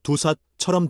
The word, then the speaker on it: ดูสัตว์: ดูสัตว์ 은 동물 보기. 동물원 가기. 한국어 두삿처럼 들림.